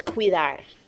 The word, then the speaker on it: cuidar: through here okay it's cuidar okay hopefully you've never pronounce this word see you that okay it is qui qui Dart we cannot break a diphthong here guys it has to stay together and when we divide